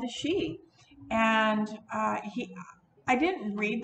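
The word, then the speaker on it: sidhe: uh so she is s-i-d-h-e is pronounced she and um so it's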